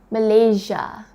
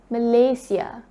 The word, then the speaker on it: Malaysia: then that I was taught the right way of pronouncing our country's name so it's not Malaysia it's Malaysia and representing our country on